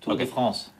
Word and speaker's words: Tour de France: No, you have to say it right. Tour of the France. Tour of the French. Tour of the France. That means like the Tour of the French riders, but Tour de France.